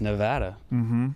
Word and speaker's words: Nevada: Nevada. I say Nevada. I say Nevada as well. Nevada. I did too, up until I just figured out it's Nevada.